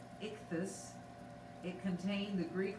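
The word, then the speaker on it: ἰχθύς: fish in the greek i-c-t-y-s pronounced ichthus it contained the greek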